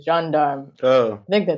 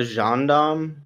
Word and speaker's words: gendarme: forget if you want a nitpicky french pronunciation correction uh sankara's dad was a john darm all right i will